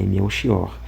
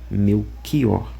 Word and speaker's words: Melchior: Na língua portuguesa, o correto é dizer beior e meu xior. Mas por alguma, ele vai dizer por alguma situação muito específica, o a pronúncia desses nomes pode eh se dar com o fonema guturalor. Meu kior.